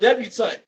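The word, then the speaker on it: debutante: like etiquette and dealing with daughters it's called debutant and this is the definition for debant and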